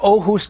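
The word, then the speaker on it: Aarhus: of continent is I don't know how to pronounce it it's a hard one ohus Denmark it's ohus Denmark it's the second biggest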